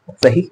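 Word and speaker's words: ث: In case अगर आप बगैर जबान को बाहर निकाले तो आप पढ़ ले रहे हैं, तो बहुत बहुत मुबारक हो, आप गलत पढ़ रहे हैं। जी हाँ, आप सही नहीं पढ़ रहे हैं। इसे क्या पढ़ना है, सा, सा, ठीक है।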